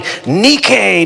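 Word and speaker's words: νίκη: He comes in, he he's shouting nikke. Nikke is victory. Uh we get our word for our modern shoe company, Nike. We mispronounce it for that one, but uh in in Greek, it's nik.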